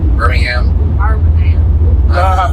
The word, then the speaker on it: Birmingham: That's how they say it here, right? Birmingham. Not Birmingham.